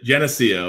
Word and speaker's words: Geneseo: from su NY Genesee go how do you pronounce it yeah Geneseo as a state public school here in New